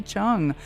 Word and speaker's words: Cheung: Chung. Am I Am I pronouncing your name correctly? Yes. Just forget the E. It's a silent E. Chung. Ah, Chung.